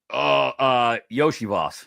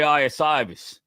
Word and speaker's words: Iosivas: Yoshi Voss. Yoshi. And I think I said it right too. Every single letter in his name does not sound like how it comes out.